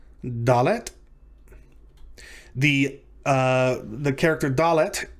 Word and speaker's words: dalet: bet is the letter dalet dalet the uh the character dalet sounds like the english letter d in the word day or dog or doc duck so on and so